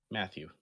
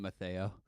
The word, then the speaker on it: Mathieu: Matthew. Hmm. I always have pronounced Um, it Matteo.